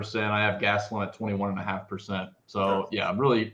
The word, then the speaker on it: Gastelum: There's no CH in Gastelum. It's not Gastelum. Well. If we're gonna call me out for pronunciations for that little thing, then you're just gonna have to correct me on every single fighter because I butcher. Wait till the Saudi card. Gastelum. All right. Well, apologies, Mad Lab. Gastelum. Yeah, he says it with a CH.